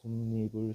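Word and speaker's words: 솜이불: 솜니불, 솜니불, 솜니불. 발음해보면 이 아저씨 솜, 니, 불이 되죠. 누가 갑자기 들어왔어? 이 니은이 들어온 거잖아.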